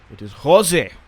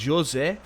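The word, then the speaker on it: José: Like it's Bruno Fernandes because of the Portuguese. It is Jose. I am Jose, not Jose. So I think that's how you say his name.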